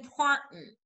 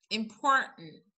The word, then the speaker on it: important: طب نمبر 1 لو انتوا فاكرين احنا كنا قلنا لما بتيجي ال n قبل ال t ان احنا بننطقها ازاي، بنقول important important.